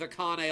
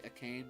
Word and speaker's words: Akane: How could he have the nerve to leave Akane all alone? I'm gonna find out that it's actually Akane and Akane is an incorrect pronunciation.